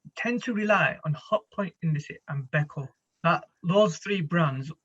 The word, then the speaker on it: Indesit: So you mentioned earlier on Hotpoint and Indesit. Is that how you say it? Indesit?